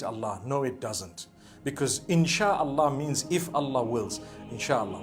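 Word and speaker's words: إن شاء الله: No one says Inshi Allah. They say Insha'Allah.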